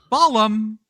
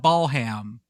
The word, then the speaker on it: Balham: I wanted to call it Balham, but I'm going to guess it's Balham. Yes. Yeah. No, they don't pronounce the ham usually.